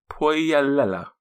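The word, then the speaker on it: Puolella: o k a and my surname is Pella p u o l e l l a have you all written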